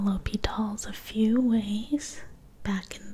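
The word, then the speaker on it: L'Hôpital's: So, you can actually spell L'Hopital's a few ways. Back in the day, I learned it as basically L'Hospital's. It's still pronounced L'Hopital's, but it's basically spelled like L'Hospital, L'Hopital, but you can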